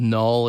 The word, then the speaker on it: Knull: in the movie is a character called null it's spelled k n u l l the king of the